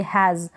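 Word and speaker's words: has: एच को ह ए, यहाँ पर एस को स नहीं पढ़ेंगे, ज पढ़ेंगे, हैज़।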